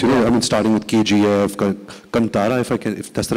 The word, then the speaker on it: Kantara: Yes, I mean, starting with KGF, Kantara, if that's the right way to say it, Kantara.